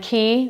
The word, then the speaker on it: Quay: I think the brand key which is spelled QW a Y and one would think is pronounced Quay but it is not the key brand is